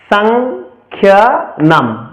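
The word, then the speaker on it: সংখ্যানাম্: এখানে এই ওয়ার্ডের মধ্যে অনুস্বারের দুটি ব্যবহার রয়েছে প্রথমটি হচ্ছে মাঝখানে দ্বিতীয়টা হচ্ছে শেষে যেহেতু মাঝখানে রয়েছে সেটাকে আমরা যেভাবে উচ্চারণ করি বাংলা ঠিক সেভাবে উচ্চারণ করব সংখ্যা এবং পরেরটাকে আমরা উচ্চারণ করব ম অর্থাৎ সংখ্যা নাম এবার আমরা প্রথম অধ্যায়ের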